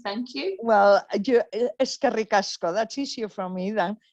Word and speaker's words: eskerrik asko: Well, eskerrik asko, that's easier for me than hvala. Okay, thank you. Eskerrik asko.